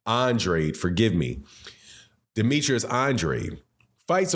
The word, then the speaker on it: Andrade: And Demetrius Andrade, excuse me, I got to start respecting that man enough to pronounce his name correctly. Andrade, forgive me.